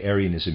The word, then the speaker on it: Arianism: the other readers aside arianism here i'm going to pronounce it that way is spelled though a-r-i-a-n-i-s-m